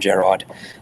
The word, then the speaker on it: Gerard: Gerard, you were going to Well, it's interesting because I often, with the surname, people always assume that my name is Gerard.